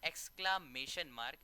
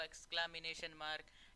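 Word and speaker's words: exclamation mark: इसको आप बार बार प्रोनाउंस करेंगे तो आपका वर्ड ये क्लियर हो जाएगा। This is called एक्सक्लामेशन मार्क। कुछ लोग इसको एक्सक्लामिनेशन मार्क, एक्सक्ला, उसके बाद जो भी बोल देते हैं कुछ भी।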